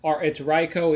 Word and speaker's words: Riko: Yes, it's Riko, even though it's spelled R-I-K-O. It's not Rico. Think of the Pokemon Riko.